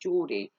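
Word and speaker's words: Jordi: given Joe or Jordy j-o-r-d-i I think it's pronounced Geordie so Geordie had been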